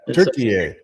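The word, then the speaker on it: Türkiye: It's So when when did it become Turkey, eh, by the way? That was a weird thing. I just thought they were Turk, but I guess apparently that's that's that's their proper pronunciation of the of their country, so.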